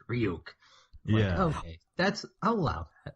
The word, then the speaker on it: Ryuk: at yeah of it of ryuk it's pronounced real yeah okay that's oh